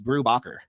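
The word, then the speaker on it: Brubaker: I was like, "I really love the works of Ed Brewaker and uh Sean Phillips."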